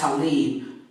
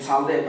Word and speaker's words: Talib: they've never seen before tal I be pronounced to leave by my parents and Todd led by most Muslims I've had high school